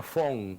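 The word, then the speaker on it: von: apellido alemán que tiene ese vn que se pronuncia fon fon fon no bones y no fue en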